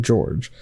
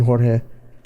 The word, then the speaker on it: Jorge: called blame it on george but uh it's spelled jorge but you can say yeah i mean he says blame it on jorge i found it and there's